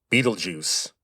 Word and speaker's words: Betelgeuse: By the way, that is how you say that name, Betelgeuse. Now, the spelling is German, but the name comes from Arabic.